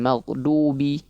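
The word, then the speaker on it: الْمَغْضُوبِ: maka butuh latihan ya masih banyak yang membaca dengan ee dal yang ditebalkan maghdubi. Bukan du tapi du bukan du tapi du ya.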